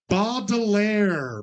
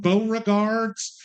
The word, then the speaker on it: Baudelaire: It had to be phonetically correct. I didn't necessarily care about the spelling, but it's Baudelaire. Baudelaire. We had a lot of Beauregards and Baudelaire.